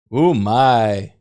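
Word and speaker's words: うまい: Is that how it's pronounced or spelled? O-M-A-I? Umai. That means delicious in Japanese, and I used it to say everything. Yeah, U-M-A-I? Yeah, that's what I thought.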